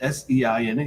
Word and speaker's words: Seine: No, this is Seine.